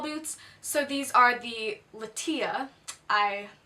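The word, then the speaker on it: Lettia: so these are the lateeya I someone told me that I was pronouncing it like Leticia which is wrong so it's like the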